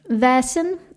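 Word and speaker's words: Vaesen: So the the the pod is using as you mentioned the is vassin is it pronounced vasan vassin vasin vassin.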